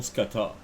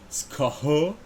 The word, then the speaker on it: Skaha: Un Sloua qui serait dans la maison, Skata. Skaha, excuse-moi, là. Pour prononcer comme il faut.